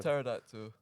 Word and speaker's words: pterodactyl: I like a pterodactyl why do you say the P that's what it's just pterodactyl the p is silent no well you want